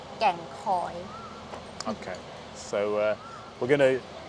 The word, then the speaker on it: Kheng Khoi: So make sure you get the pronunciation of Kheng Khoi correct. Thai pronunciation which is Kheng Khoi.